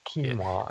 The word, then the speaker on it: quinoa: And you pronounced it quinoa, is that right? Yeah, that's how I pronounce it. See, is it quinoa? Sorry, it's quinoa. Yeah, that's what I thought it was.